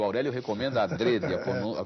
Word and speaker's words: adrede: adrede o Aurélio recomenda adrede a pronúncia fechada adrede né que quer dizer de propósito feito de propósito alg alguns professores falam Adre né É muita gente fala Adre mas o Aurélio recomenda ADR o que não quer